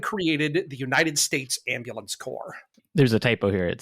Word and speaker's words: corps: that's that's correct that's that's silent s that's right that makes no sense as an English why does says corpse I know I it does it's the French it's that's where we get it from yeah core comes I